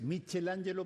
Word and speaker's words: Michelangelo: nosotros hacemos que es Michel Angelo para tod pronunciación es la Italiana michelangelo mangelo claro y siempre